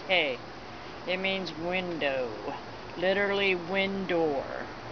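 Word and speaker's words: ה: hit in honor or e value 5 is pronounced hey it means window literally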